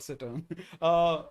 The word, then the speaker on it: cittern: Yes, I am carrying, I think it's pronounced cittern.